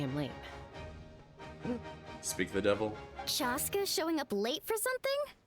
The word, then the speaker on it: Chaska: Chaska showing up late for something? Wait. That's a first. Chaska. Everyone's been saying Casca, right?